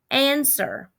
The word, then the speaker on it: answer: an ER sound but there's a strange letter and answer and it's a w before we put the ER which is the normal sound so this W is something we're going to just have to memorize okay in the word